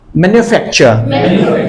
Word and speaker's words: manufacture: আসলে মেনু না, এটার উচ্চারণটা হবে এরকম, লাইক সিম্পলি বলো, ম্যানুফ্যাকচার। রাইট, দেখো, ম্যান, mania, facture, for fact, manufacture, manufacture, manufacture, manufacture, manufacture, manufacture, manufacture, manufacture, manufacture.